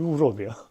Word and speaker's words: would have: 원래 발음이 우럽이야.